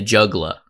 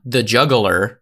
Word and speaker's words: juggla: of the song The Juggla. Which, in case you couldn't tell by the way I pronounced the juggla, it's not the juggler, it's J-U-G-G-L-A, it's juggla, it's the juggla.